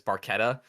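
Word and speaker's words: Barchetta: Baretta but the way you pronounce Baretta is barquetta so it's pronounced wrong but it's the red Baretta um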